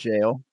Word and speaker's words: gaol: I saw no idea if like the random tweet was accurate, but I mean, Like yeah, how they spell that's jail, the super yeah, the archaic way.